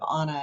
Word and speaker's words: Aana: And if you don't know me, you typically would not say my name right. You would say Anna instead of Aana.